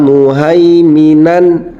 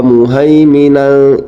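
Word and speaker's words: مهيمنا: maka cara membaca tanwinnya dengan jelas tidak boleh dengung tidak boleh disamarkan Wa muhaiminan Alaihi tidak boleh wa muhimin itu tidak boleh contoh berikutnya ada nun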